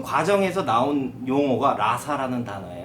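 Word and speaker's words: raza: 그 과정에서 나온 용어가 라사 라는 단어에 요 라 4 스페인어 르 단어로 하면 ra 제트 a 라고 하는데 발음을 라사 라고 하죠 이게 이제 영어로 하면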